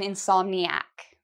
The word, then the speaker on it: insomniac: I can also say: "I'm an insomniac". So the pronunciation: "in-som-ni-a", so it's four syllables, "in-som-ni-a". Here: "in-som-ni-ac", again, four syllables.